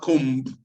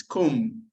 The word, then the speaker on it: comb: It's not comb. It's comb. So we have silent consonant.